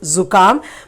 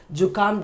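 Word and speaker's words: जुकाम: In Hindi we say Sardi, cold, but here in Urdu it is Zukam. But when we use in Hindi, we say it as Jukam, just like Jila, Jukam. Okay, otherwise it should have a dot and pronounced as Zukam.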